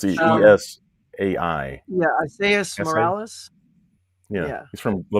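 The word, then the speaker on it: Esai: Is that how you pronounce his first name? S.A.? It's E-S-A-I. Yeah, Isaias Morales.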